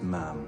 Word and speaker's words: ma'am: After that, it's ma'am. Rhymes with ham until you leave.